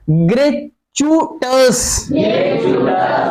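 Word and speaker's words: gratuitous: बताइए गंभीर कदम, हाँ ग्रेचुटस, ग्रेचुटस, आई साइलेंट है, आई क्या है साइलेंट है, ग्रेचुटस अकारण, विदाउट रीजन,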